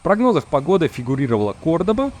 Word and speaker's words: Кордоба: Или кто-то говорит Кордоба, но правильно говорить Кордоба.